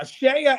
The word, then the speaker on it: CEIA: and we also have shea usa now shaya is spelled ceia shea usa now share usa